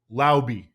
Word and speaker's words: Laube: And I saw a video of Dylan Laube actually himself pronouncing his name, and it is Laube.